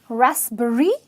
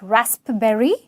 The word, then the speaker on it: raspberry: Okay, it's raspberry. Okay, not raspberry.